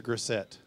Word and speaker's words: Grissett: Is it Grissett or Grissett?